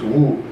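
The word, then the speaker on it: 無: And the answer is in Japanese it's mu, in Chinese it's wu.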